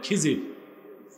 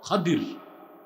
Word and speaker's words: খাদির: আপনারা ভুল বলেন খিজির, উচ্চারণটা হচ্ছে বিফাতহিল খা ওয়া কাসরিদ দাদ, খাদির।